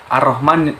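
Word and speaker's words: الرحمن: jadi cara membacanya itu ar-rahman ar-rahman nirohim lah alifnya diberikan Fatah alamnya tidak dibaca seperti Dadal karena dileburkan ke huruf Ro Jadi arrohmanirrohim cara membaca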